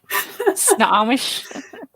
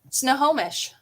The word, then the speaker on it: Snohomish: Snomish. Eva. Snohomish.